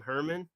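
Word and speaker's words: Germán: You said Herman, like German. Herman. How do we say Domingo Herman's name? It's like Yogging from Anchorman.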